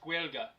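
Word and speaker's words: Gaeilge: It's pronounced Guelga, but yes, I do.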